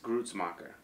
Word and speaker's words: Gruetzemacher: Chris Gruetzemacher. Yeah, that's how they pronounce it.